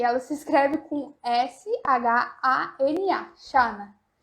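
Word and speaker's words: Zara: A frase é a seguinte: não encontrei el pantalón en Xana. Exatamente assim, a pronúncia, exatamente assim.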